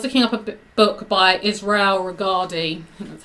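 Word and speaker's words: Israel Regardie: um I was looking up a book by Israel regardi that's how you pronounce his name and there was somebody on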